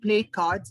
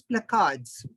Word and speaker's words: placards: It's not play cards, it's placards.